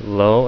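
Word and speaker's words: לא: It's a dot on top of the L, so it's Lo, and Aleph is silent.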